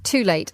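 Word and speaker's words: Tul8te: So everybody, go and have a look at Too Late. I think it's spelled T-U-L, the number 8, T-E.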